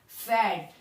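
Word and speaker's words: Pferd: cunningson क्या कहते हैं फैट यहां पर मैंने पहले भी बताई वीडियो में की पी के साउंड होती है साइलेंट तो हम एफ से पढ़ते हैं फैट फैट ठीक है जैसे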